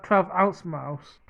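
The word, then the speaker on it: 12 oz. Mouse: Mouse 12 oz Mouse I didn't know how to pronounce that but in the show they pronounce it as 12 O Mouse like should you have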